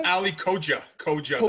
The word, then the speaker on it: Koca: It's Ali Koca. Koca. Koca. The C is like okay. A J, yes.